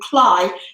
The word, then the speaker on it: Cley: There's a place just on the coast here called Cley, next to the sea, and Cley is spelled C-L-E-Y, and it's a corruption of clay.